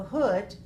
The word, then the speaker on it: hood: So hood rhymes with good. G-O-O-D, good, and H-O-O-D, hood. These two rhyme, neighborhood.